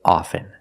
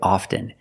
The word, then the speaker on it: often: With both words, I don't pronounce the T. I say soften, and I say often. But sometimes you'll hear people say often, and it's not wrong. It's okay. People say both, often and often.